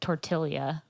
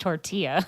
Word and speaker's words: tortilla: don't know I had a teacher that pronounced tortilla torte Ilya got really indignant when I told her that's not how you pronounced tortilla like only only only